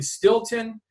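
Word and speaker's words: Steelton: But, we did a show in in Stilton. It's uh it's spelled steel ton uh Pennsylvania Stilton and on a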